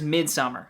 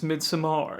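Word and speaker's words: Midsommar: list it's ari asters midsummer and is that how it's pronounced i feel like every time i say it there's some country club horror fan that's like actually it's mid samar yes but anyway this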